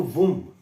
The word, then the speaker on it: womb: Uterine का अर्थ ही meaning अगर आप डिक्शनरी मीनिंग देखें तो वुम, WOMB, perhaps B is silent.